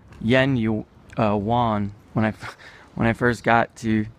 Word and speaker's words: yuan: I used to call yen yuan when I first got to China. I was like, oh, it's yuan. It's like Spanish pronunciation. And they basically pronounce it like Japanese yen, but a little softer.